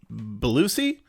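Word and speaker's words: Bellucci: the language uh monica i think it's pronounced belusi and sorry if you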